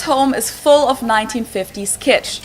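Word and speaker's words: kitsch: So you could say his home is full of 1950s kit. It means the same thing in German and in English and it's also pronounced the same.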